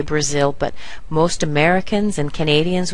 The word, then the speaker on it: Brazil: For example, the BRA here is actually pronounced as a schwa, bruh, bruh, bruh, kind of small, and I'll get a really big sound up here with a glide to it, Brazil, Brazil.